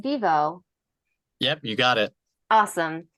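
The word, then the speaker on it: Vevo: networks and Studios including Disney NBC is it pronounced Vivo yep you got it awesome Dailymotion MTV defy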